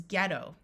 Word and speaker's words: ghetto: word is sigh tight there are a few words where the GH has a silent h meaning GH together will have the sound of G here we have a